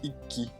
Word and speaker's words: Ikki: En effet, on dit Iki et pas Ikki.